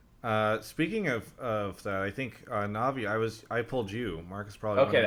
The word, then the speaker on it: Navi: I've heard a lot of different ways it's pronounced, but Navi's fine.